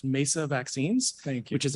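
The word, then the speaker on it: Meissa: co-founder and chief scientific officer of uh it's pronounced mesa vaccines thank you which is a clinical uh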